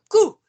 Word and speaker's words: couds: Je couds. Il y a le D, mais on le prononce Comment pas. l'écrit? On écrit C-O-U-D-S, mais on prononce cou.